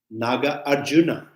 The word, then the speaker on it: Nagarjuna: heard recently the in some Indian Masters uh they pronounce nagaj Juna as a different name Naga Arjuna Naga Arjuna sound that maybe more right nagarjuna or Naga Arjuna maybe his name is Arjuna because you know he has relation with Naga so people named Naga Naga Arjuna so yeah so we we got used to pronounce nagarjuna so Noble nagarjuna now